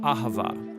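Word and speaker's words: אהבה: languages as it is in ancient hebrew it's pronounced ahava it most basically refers to the kind of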